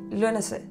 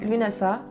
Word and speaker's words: Lughnasadh: Lugh à la base, et en irlandais, avec l'accent, ça se dit Lughnasadh. Et ça finit par transvaser avec les années, et maintenant, ça se prononce soit Lughnasadh, soit Lughnasadh.